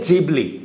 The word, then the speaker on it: Ghibli: ये trend famous है जिबली का, या फिर कहें तो गिबली का। इसका सही प्रोनाउंसिएशन है जिबली।